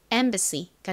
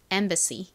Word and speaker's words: embassy: 발음은 가장 앞에이가에 소리 나고 m이 미음 소리 b는 비읍 소리 a는 아에 a 어 소리 중 어에 가까운 소리가 난다고 말씀드렸죠. 가장 끝에는 SSY가 왔는데요. SY는 C 혹은 Z 소리가 나고 주로 Z 소리로 쓰는 경우가 많은데 SSY는 C 소리가 납니다. C 한국식으로는 보통 C라고 쓰지만 실제 발음은 좀 세게 발음이 나는 경향이 있습니다. 연결해서 발음해 보면 embassy가 되죠.